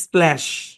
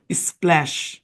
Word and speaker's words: splash: এসপিএল sound হচ্ছে স্প্ল, এর sound হচ্ছে এ, তাহলে স্প্ল্যা উচ্চারণটা গিয়ে পড়বে এস এইচ এর উপর। আমরা জানি এস এইচ তালব্য স, তাহলে সম্পূর্ণ শব্দের উচ্চারণ কি? স্প্ল্যাশ।